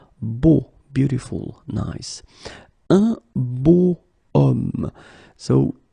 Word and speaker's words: homme: Okay, and it's not a vowel at all, but then in French we don't pronounce it.